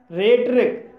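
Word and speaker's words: rhetoric: रेट्रिक, रेट्रिक शब्द भी आर एच से शुरू हुआ है और यहाँ पर एच साइलेंट है, इसलिए इसे रेट रिक पढ़ा जाएगा और रेट रिक मीन्स होता है वक्रपट का।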